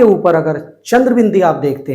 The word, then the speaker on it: अं: अगर अ के ऊपर अंग की बिंदी है तो इसका हम उच्चारण करेंगे अंग। अ बोलेंगे और अ के बाद नाक से ज्यादा और मुंह से कम आवाज निकालेंगे तो उच्चारण होगा अंग का।